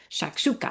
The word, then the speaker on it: shakshuka: So what is shakshuka? So that is how it's pronounced. It's just fun to say to me, right? Can you not say that a hundred times? Shakshuka.